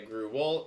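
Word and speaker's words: gruel: get is Gru wo I've heard it both ways by the way gu wo and grew well I don't know does it really need two syllables at all I think only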